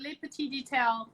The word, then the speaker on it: Les Petit Details: a privileged title so that's why and so late party detail is how you say because I'm French and